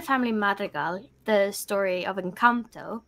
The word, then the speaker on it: Encanto: to you know that Encanto enchanto how do you say the film yeah Encanto that was a weird